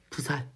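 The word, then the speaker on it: ᄡᆞᆯ: 그럼 이거 발음 쌀 이라고 발음 물론 지금은 쌀이라고 발음한 쌀이 이게 원래는 쌀이에요 지금에 지금 쌀이라고 하지만 이땐 뭐라고 발음해야 돼? 부살 이런 식으로 발음을 했다고.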